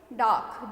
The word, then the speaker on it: dark: जब हम इसमें बोलते हैं तो इसमें क्या नहीं आता है, आर का, आर क्या होता है, साइलेंट होता है, ठीक है. DARK, डार्क.